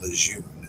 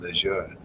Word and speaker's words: Lejeune: They said it is not Lejeune, it is Lejeune. And the Marine Corps probably said, yeah, we don't give a fuck.